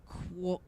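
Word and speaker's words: قهوة: The word coffee comes from the Arabic kahwa.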